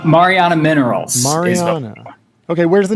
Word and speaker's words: Mariana: Help me understand how to pronounce this company's name. I don't want to get it wrong. Mariana Minerals. Mariana.